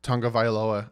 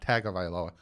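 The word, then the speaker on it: Tagovailoa: tongue of I Aloha and yes it is pronounced tongue of Aloha I looked it up I literally watched a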